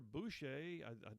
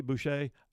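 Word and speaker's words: Boushey: economic adviser heather heather boucher i had to pronounce it bushy boucher said that president biden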